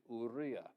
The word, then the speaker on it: Uriah: Like we often say Uriah, it's actually ura. It's never U as in Y o U. It's always U as in the two O's in food.